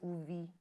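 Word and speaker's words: Uvbi: It's spelled as U-V-B-I and pronounced as Uvi.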